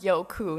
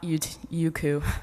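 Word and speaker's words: Youku: basically like YouTube and it's pronounced yoku not uu KU by the way so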